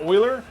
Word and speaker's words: Euler: I legit have no idea who Mueller is. Apparently it's pronounced Euler.